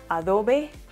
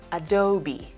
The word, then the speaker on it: Adobe: Pues bien, algunas personas creen que se pronuncia Adobe, Adobe. Pero en realidad su correcta pronunciación es Adobe, Adobe, Adobe.